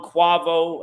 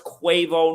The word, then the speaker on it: Quavo: and I know earlier I was saying the name wrong quavo I know it's quavo now okay quavo but his birth name is